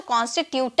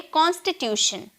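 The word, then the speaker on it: constitution: दिख रहा है ना तो बहुत लोग इसे बहुत लोग इसे टन में प्रोनाउंस करते हैं क्योंकि ट का साउंड ट टी का साउंड ट में निकलता है ना तो कांस्टीट्यूट कहते हैं लेकिन ऐसी कोई बात नहीं है इसे हम प्रोनाउंस करेंगे शन में ओके हम इसे प्रोनाउंस करेंगे शन में शन में हम बोलेंगे कॉन्स्टिट्यूशन कॉन्स्टी यहां पर टी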